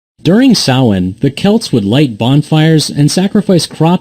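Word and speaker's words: Samhain: the night of October 31st it was called Sawan yeah I know it's spelled differently than how it's pronounced when did you become such a stickler during sawhen the Celts would light bonfires and sacrifice crops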